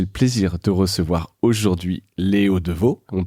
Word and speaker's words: Léo Devaux: J'ai le plaisir de recevoir aujourd'hui Léo Deveau. On le prononce bien comme ça ?